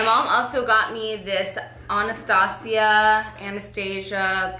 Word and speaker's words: Anastasia: also got me this Anastasia Anastasia people pronounce it all different I say honest hacia the Glo kit and